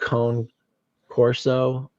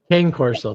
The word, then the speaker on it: Cane Corso: It's called it's spelled Cone Corso, but it's Cane Corso. Thank you. Yep. That would be phonetic, Cane Corso, but it's Italian.